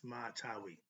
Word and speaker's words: Sema Tawi: Right thinkers, let's talk about what is Sema Tawi or Sma, Smaitaui or Tawi, but it's pronounced Sema Tawi.